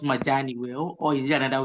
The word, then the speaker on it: Majani: Edward Majani. Dr. Edward, did I pronounce Majani well or is there another way of pronouncing it?